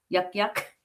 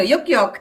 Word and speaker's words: Yuk Yuk: Yak Yak? Yuck yucks. So very Filipino. Yuk Yuk.